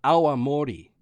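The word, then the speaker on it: awamori: a traditional sake or nion as it's called aam Mori AI a w m o r i which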